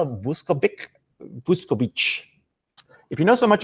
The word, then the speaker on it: Vuskovic: Well, because people who know what they're talking about have heard the name, and so they know it's pronounced Vuskovic.